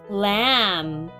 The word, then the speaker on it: lamb: Lamb.